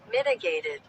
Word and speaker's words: mitigated: इसकी प्रोनाउंसिएशन सही रखिएगा, मैं इसकी प्रोनाउंसिएशन करके भी दिखाता हूँ आपको। Mitigated.